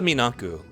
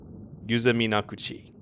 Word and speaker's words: Minakuchi: You You missed the syllable. Wait, what? Oh, it's gone now. Makuchi. Oh, sorry. I assumed it ended. Okay. Minakuchi.